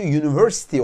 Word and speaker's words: university: şimdi bir örnek vereyim mesela University gördüğünüz gibi University kelimesi baktığınızda sesli harfle başlıyor Ama okunuşu University olduğu için başına a harfi gelir Sanki sessiz bir harfle